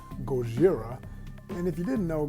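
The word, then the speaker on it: ゴジラ: This is a shout out to all of my folks who love stuff like Godzilla, aka the proper pronunciation from Japan is Gojira.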